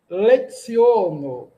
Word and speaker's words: leciono: Dua leciono. Opa, o C tem um som de ts. Nós evitamos nasalizar. dua lecio.